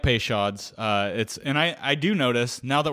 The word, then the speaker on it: Peychaud's: I am a big fan of Is it Peychaud? Peychaud? Like, you got to say it like a Creole person because it's a New Orleans thing.